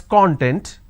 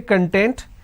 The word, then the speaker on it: content: make a mistake now when we pronounce this as content the meaning it means an ingredient or index for example for the training okay now when I say content let me change the color here now when I say content this means being happy for example are you content with the training okay now that makes